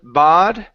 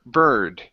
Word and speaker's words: bird: here is the word bird instead of bod it's an R sound so B bird bird good a small